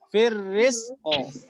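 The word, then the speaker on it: في الرزق: Nah ya, jadi yang nggak boleh tuh gini, firrizq itu nggak boleh ya. Kalau Pak Kiai dulu orang-orang awam tuh dulu bacanya gitu, firrizq gitu ya, bukan firrizq tapi apa? Firrizqo.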